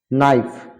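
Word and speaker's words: knife: টা will be silent K letter will be silent যেমন knock মানে ঠোকা বা টোকা নাইফ মানে সুরি ন্যাক মানে দক্ষতা নিড মানে মালিশ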